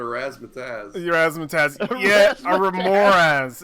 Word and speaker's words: Remorhaz: Wait, I couldn't pronounce it, so I just called it a razzmatazz. Your Razzmatazz. Yeah, a Remoraz. It's a Remoraz.